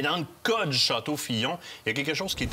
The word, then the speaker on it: Fillon: va avec château Fillon il se prononce vraiment Fillon première Bordeaux c'est le